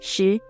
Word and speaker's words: 十: It is pronounced as 十. Let's see how to write this character. 十.